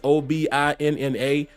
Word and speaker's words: Obinna: I believe his first name is Obina or Obina. It's Obinna.